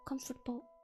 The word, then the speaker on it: comfortable: I mispronounce this comfortable why is there a table in comfortable there's no table when you say it it's just comfortable but why is it